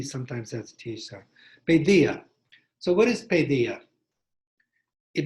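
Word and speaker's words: paideia: in ancient greek is pedia p a i d e i a and the original pronunciation was probably pedia that the d had a kind of th sound like when we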